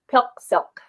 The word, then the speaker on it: PIQSIQ: of your group so if you think about rhyming it with milk silk mm-hmm so think of that when you say pill silk silk there you go